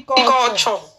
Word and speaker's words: Couture: It's Couture, Abby. If I want to pronounce it like Nigerian English, I'll say Juicy Couture.